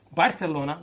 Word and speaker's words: Barcelona: Wednesday, in the other semifinal, Bayern München from the Bundesliga travels to FC Barcelona, or Barcelona, that's how they say it in Castilian, for the first leg of their semifinal.